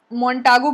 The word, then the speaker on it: Montagu: So Montagu भी बहुत लोग बोलते हैं, Montague भी बहुत लोग बोलते हैं, depending on the pronunciation.